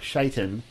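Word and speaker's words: Sheitan: They pronounce it Shaitan, which is S-H-E-I-T-A-N, is just the Chaldean form of the same name.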